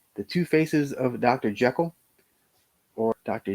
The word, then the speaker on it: Jekyll: are the damned the two faces of dr jekyll or dr jikel as it's actually pronounced uh the old dark house that has